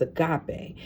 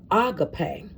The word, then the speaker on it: agape: This word, we pronounce it as agape, but it's really pronounced agape, and in the Greek.